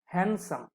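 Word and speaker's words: handsome: হ্যান্ডসাম, আমরা হ্যান্ডসাম বলি, আসলে ডি উচ্চারণ করা যাবে না, হ্যান্ডসাম, ডিটা সাইলেন্ট।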